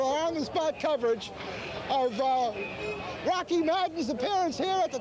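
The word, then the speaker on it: Roche: you doing well how'd you get the name Rocky uh my parents made me that well that's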